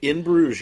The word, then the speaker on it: Bruges: In Bruges, yep.